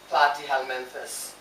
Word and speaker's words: Platyhelminthes: e s it's very long and it is pronounced as platyhelminthus okay so let's talk about platyhelminthes number one